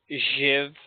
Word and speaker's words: Jiv: The dwarf that took you in, his name was Jiv. His name was Jiv. Give. Like Schiff, but Jiv.